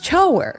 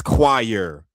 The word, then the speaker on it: choir: Oh, that's choer. Choer. That's not choir. Stop trying to gaslight me into thinking that these are the same words because they're definitely not. Now, to be fair, when I was younger, I'm talking like in preschool, I used to pronounce it like that, too. Cher or something. My mom was like, "No, that's choir."